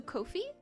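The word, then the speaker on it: Ko-fi: So Kofi like C O H F E E kind of like that or co as in like company co.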